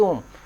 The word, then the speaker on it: ओम: उसकी आवाज ओम हो करके आता है। That is ओम।